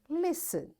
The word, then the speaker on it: listen: the child because and listen t is silent the child who is holding tea will sit down and this is how we say this word listen all right so pause